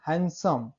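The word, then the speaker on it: handsome: लेकिन हम जब एक साथ पढ़ेंगे क्या बोलते हैं, हैंडसम। डी साइलेंट होता है, वही है, लास्ट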